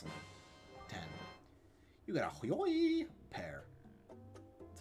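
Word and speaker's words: Hyoi Pear: You got a Hoyoi pair. That's how it's pronounced.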